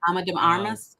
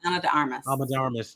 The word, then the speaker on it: Ana de Armas: I'm pretty sure I pronounced her name right. Ana de Armas. Ana de Armas, yes.